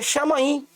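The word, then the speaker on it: שמים: No hebraico a palavra céus, a pronúncia é chamaim.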